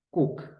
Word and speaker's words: cook: pintar esta está fácil la doble o que casi siempre se pronuncia como u que no siempre ojo que es Cook ojo cuc cocinar profe no es